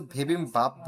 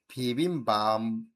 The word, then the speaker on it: 비빔밥: ও কিন্তু বিবিম্বাপ বলে নাই। বিবিম্বাপের জায়গায় এই ভাচিম বিয়পের পরে মূল বর্ণ মিয়ম অথবা নিয়ম থাকলে আমরা জানি বিয়পের উচ্চারণ ময়ের মতো হয়ে যায়। তাই এখানে ম থাকার কারণে এটার উচ্চারণও ময়ের মতো হয়ে গেছে।